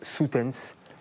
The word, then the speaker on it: Soetens: Et Soutens. Parfait aussi. O-E en flamand, ça fait ou.